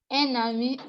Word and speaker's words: un ami: All right, so the N gives an N sound.